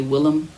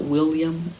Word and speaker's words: Willem: You know, it's funny because I thought people were saying his name wrong when they would say Willem and not William, but it's Willem Dafoe.